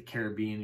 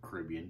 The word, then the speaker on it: Caribbean: So the Caribbean, you go in there, or the Caribbean, depending on how you say it, they seem to have a trade-off.